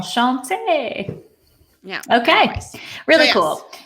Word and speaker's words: Enchanté: Enchanté.